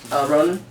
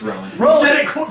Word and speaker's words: Rowan: It's Rowan. You said it wrong twice. I did? What did I say You first? said Ronan, and then Okay. I corrected you, and you said Ronan again.